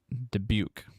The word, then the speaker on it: Dubuque: Sorry, I was trying to learn how to pronounce that. Dubuque.